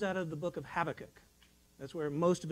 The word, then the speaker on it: Habakkuk: And then the buh in Habakkuk is actually a V. So it's pronounced Habakkuk. All right.